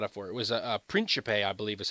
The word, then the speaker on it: Principe: It was a Principe, I believe is how they pronounce it. It's a an Italian suit. It's written like Principe, but it says like Principe.